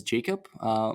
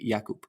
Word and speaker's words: Jakub: czech republic um people from english-speaking countries usually pronounce you my name is jacob but my mom calls me yakup and you call me jakub as well so that's perfect that's that's how to pronounce my name anyway um a little